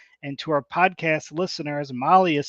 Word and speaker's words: Mahle: And to our podcast listeners, Molly is spelled Mahle.